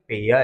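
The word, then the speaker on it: pare: पेयर। क्या पढ़ने वाले हैं? पेयर।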